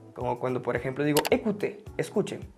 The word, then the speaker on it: écoutez: cuando por ejemplo digo écoutez, escuchen. Écoutez l'enregistrement, escuchen. Termina en Z, pero digo écoutez.